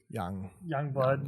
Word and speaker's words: Youngblood: It's Youngblood, not whatever the fuck Ashley said.